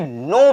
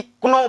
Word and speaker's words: know: इसमें भी है KNOW, इसको हम पढ़ेंगे नो पढ़ेंगे, ना कि क्नो पढ़ेंगे। नो पढ़ेंगे, केवल के हमारा साइलेंट रहेगा, इसका लोप हो जाएगा।